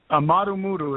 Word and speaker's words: Amaru Muru: Amaru Muru is spelled A-M-A-R-U, Amaru, and then the second word is Muru, M-U-R-U.